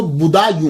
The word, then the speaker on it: بدایوں: اس کا تلفظ جو ہے وہ بدایوں ہے، کیونکہ یہ پرنس بوڈا